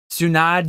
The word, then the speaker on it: Tsunade: Tsunade, you pronounce the E.